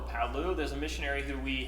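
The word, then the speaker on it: Palau: North Mariana Islands up I believe this is pronounce Paulo or Paulo there's a missionary who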